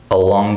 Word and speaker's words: along: That has a different stress here. Now we have the second syllable stress. So listen to the difference. All on cable, along cable. So here it's all on, and here it's along.